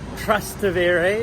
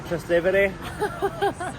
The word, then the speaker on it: Trastevere: We're on the way to Trastevere. Ew, don't say it like that. We're on the way to Trastevere.